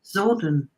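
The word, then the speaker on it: Psordon: it sounds it's it it's kind of spelled with silent p so it's p-s-o-r-d-o-n zordon all right okay i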